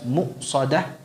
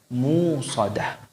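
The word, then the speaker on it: مؤصدة: Muqsadah dengan mentahqiq hamzahnya, membacanya dengan jelas muqsadah. Ada pula yang membacanya tanpa hamzah, jadi dibaca musadah.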